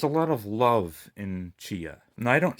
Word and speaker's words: Tchia: I'm gonna start with Chia. I think that's how you pronounce it. It's not Tchia. I think the T is silent. It's Chia.